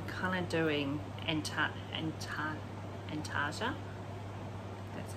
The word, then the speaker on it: Antarctica: tea but i'm kind of doing anta and antarctica that's how you pronounce it but anyway so this is using